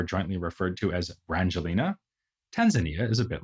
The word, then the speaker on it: Tanzania: Zanzibar and Tanya Nika giving us the new country of Tanzania or as it is also sometimes pronounced Tanzania so much for the